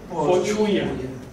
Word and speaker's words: pohuia: Y esto se pronuncia diferente, se pronuncia pochuya, no se pronuncia así.